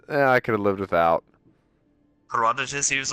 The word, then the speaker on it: Herodotus: Herodontus, I could have lived without. Herodotus, he was like, "Oh, look at me!